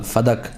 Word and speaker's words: فدک: المنیر میں لکھا ہے۔ فدق لفظ غلط ہے، جو لوگ کہتے ہیں فدق، یہ غلط لفظ ہے، اصل لفظ اس کا جو صحیح تلفظ ہے، کریکٹ پروناؤنسیشن یا پروننسیشن جو بھی ہے وہ ہے فدق بے فتح الفاء والدال، فدق۔ بلدتن، یہ ایک شہر